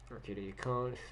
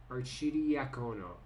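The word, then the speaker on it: Arcidiacono: Arcadia Cone, or no, Archidia. How do you say his name? Let me just figure that out before I embarrass myself for the rest of the stream. Archidiacono.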